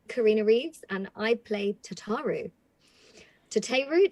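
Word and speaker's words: Tataru Taru: reeves and i play tataru to te root depends how people pronounce it but i think is the most common this is the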